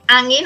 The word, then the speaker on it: Angin: Did I pronounce it right? Angin or Angin?